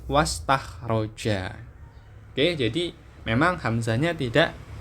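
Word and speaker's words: واستخرج: Nah, bacanya nanti bukan wa as tahroja, tapi was tahroja.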